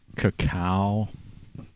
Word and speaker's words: cacao: And I also had some dark chocolate cacao, you know. C-A-C-A-O, cacao. Is that how you pronounce that? You know, instead of cocoa.